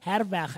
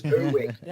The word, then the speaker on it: Herweg: This morning, we are in conversation with Herweg. Am I pronouncing the surname correctly? You're spot on. That's the Afrikaans version. The English version is Herweg. Herweg. But I prefer to go with the correct Afrikaans pronunciation.